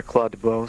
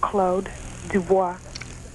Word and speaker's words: Claude Dubois: Claude Dubo being one of them, right? Yes. And actually, you and I'm not trying to crack you on your accent, but um actually that's pronounced Claude Dubois.